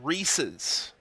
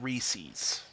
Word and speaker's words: Reese's: which for the record, we're talking about pronunciations earlier, like crayon and crown and all that stuff. It is Reese's. Everybody say it together. Yell your PC. Reese's. Reese's. Not Reese's.